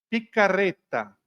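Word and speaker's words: Piccarreta: Mística da igreja chamada Luisa picarreta pronuncia direito italiana picareta ela dizia que a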